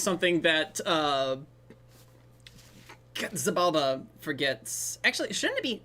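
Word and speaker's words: Xibalba: I mean, it is an X, and being pronounced like a Z is pretty acceptable in most cases. Now look, I'm just saying, if the Mexican filmmakers were okay with it being Zibalba, that's probably the way they wanted it said.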